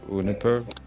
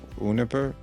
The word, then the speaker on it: Uniper: then to go and compete with companies like Uniper in green hydrogen? Sorry, can you repeat it? If you were able to raise the capital, is your strategy to then go and compete with companies like Uniper?